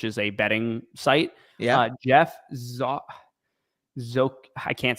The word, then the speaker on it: Geoff: His name is Jeff is spelled GEOFF, and then it's ZOCHODNE.